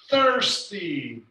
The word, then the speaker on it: thirsty: sad shining sick thin thirsty don't forget the th tiny tired ugly uncomfortable